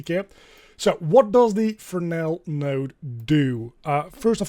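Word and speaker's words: Fresnel: as a fresnal uh but it's a French word so you pronounce it as Fel uh you can pronounce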